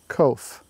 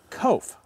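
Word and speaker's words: Koch: But it's pronounced Kof. Kof, as in rhymes with? Rhymes with loaf. Loaf of bread, not laziness.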